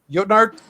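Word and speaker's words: jötnar: But then you've got this whole range of other creatures, which are, how do you say it? Jotnar? Jotnar? Yes. Jotnar.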